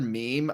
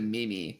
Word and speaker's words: meme: when i first heard meme i pronounced it mimi i was like what is a mimi and i was like oh that's what like that is that's a meme so like and then